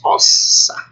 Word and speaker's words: ossa: Esses dois S's, ambos pronunciados. Ossa. Não é dígrafo como em português, ambos pronunciados.